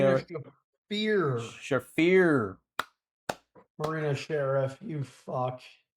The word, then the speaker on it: Shafir: We have Harley Cameron versus Marina Shafir. Or how do you say her? Did I say Marina her? Shafir.